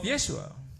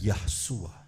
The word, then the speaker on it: Yeshua: dan sudah ada unsur nama Yesua, Also there is the name of Yeshua. bukan Yahsua. It's not Yeshua.